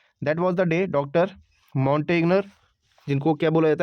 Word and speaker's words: Montagnier: Montagnier, जिनको क्या बोला जाता है, माउंट कैसे प्रोनाउंस करते हैं? मॉन्टेगिया बोलते हैं इसको ना, मॉन्टेगिया, who directs the viral